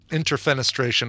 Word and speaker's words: interfenestration: yeah I don't the the root word the French word you pronounce with the middle the middle syllable uh accented but interfenestration I think for that you would and defenestration you would uh accent the the fen syllable all I know is